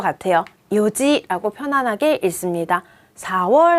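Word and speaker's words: 四時: 요지. 맞습니다. 4시는요, 원래 4는 용이잖아요. 그리고 시는 지예요. 그런데 이게 탈락돼서 요지라고 해요. 한국어에서도요, 하나, 둘, 셋, 넷인데, 넷이라고 하지 않죠. 넷이라고 하잖아요. 조금 관련시키면 쉬울 것 같아요. 요지라고 편안하게 읽습니다.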